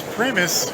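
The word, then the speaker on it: Pramas: It's Pramis, rhymes with famous.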